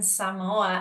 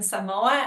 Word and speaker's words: Samoa: Yes, Samoa, not Samoa. I didn't know that before, how to pronounce it.